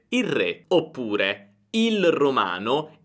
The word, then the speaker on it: il re: i giorni è che la L di il diventa una R. Quindi la pronuncia sarebbe il re, il re. Guarda, non pronuncio più la L, ma una R, il re.